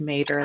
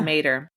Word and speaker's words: Matter: It stars Niall Mater, even though his last name looks like Matter, but it's not. It's Mater, like the truck.